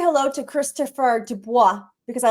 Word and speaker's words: Dubois: Dubois. Dubois. It's yes. It's very French, and I'm Very Frenchy. That's right. it's really it's not even supposed to be pronounced with a D. It's Dubois. That's how you really pronounce it.